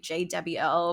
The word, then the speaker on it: JDEBBIEL: Oh, my social media is I pronounce it like J Debbie L, but it's JDEBBIEL.